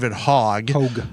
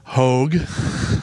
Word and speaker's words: Hogg: David Hogg. Hogue. It's spelled hog.